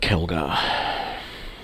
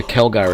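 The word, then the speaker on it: Khelgar: So Kelgar is spelt Kheljar.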